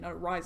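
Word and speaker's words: Rize: And then, of course, Rise, R-I-Z-E, yes, you pronounce it Brisinga Rise. I know that there's only one R in there, but I just thought I'd set the record clear for you guys, because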